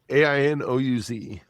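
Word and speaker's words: Aïnouz: It's a Brazilian director called, his name is Karim Anous. He directed Invisible Life. Ainouz.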